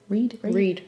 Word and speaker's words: Reade: How did they pronounce it? Reade. Reade. Okay. Reade.